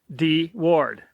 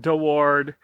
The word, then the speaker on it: Deward: and they called it D Ward David Ward the initial and his last name and over the years it's been pronounced dward deward uh and it was the